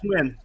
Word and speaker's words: Nguyen: And, like, when I went to high school with someone, and they're like, oh, you have to pronounce that NG part as Eng. So they would do, like, Nguyen or something like that, so.